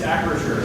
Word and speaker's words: Acrisure: I pronounced the name right? It's Acrisure. Acrisure.